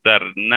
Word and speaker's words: Dardenne: 20 y 21 sobre el cine de los dardenne ane se pronuncia así y sobre los procesos de construcción